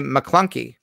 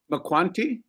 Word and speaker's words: McClunky: You can say McClunky. McQuanty? McClunky. It's almost like the cop in The Godfather, McCloskey, but it's McClunky.